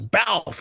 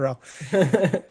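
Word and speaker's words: Balph: Oh, there's uh Balf Balf Eubank and people keep mispronouncing his names as Ralph and then he keeps correcting him and he says Balf, not Ralph.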